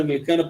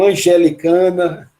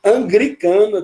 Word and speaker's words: anglicana: As pessoas chamam angelicana, né? E aí, quando vai falar episcopal, uma pessoa falou psicopata. Então, são coisas que a gente... anglicana também existe essa pronúncia, essa dificuldade com o L da igreja anglicana.